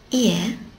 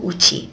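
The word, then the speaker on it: 家: Ie, that actually can be pronounced either ie, house, or uchi, home. It doesn't matter which one you use.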